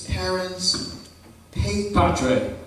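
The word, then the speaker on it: parens patriae: I'm looking at the front of the book and it says, how you pronounce it, it's parents Patre.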